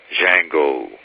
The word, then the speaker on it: Django: the name of it the d is silent django and a lot a